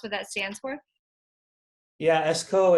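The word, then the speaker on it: Eskoh: that stands for yeah esko it's uh play off my name so phonetically you know is my first initial and my last name but um i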